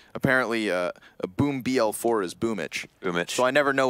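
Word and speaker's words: boombl4: We're just mispronouncing it. You know, because apparently a boom BL4 is boomich.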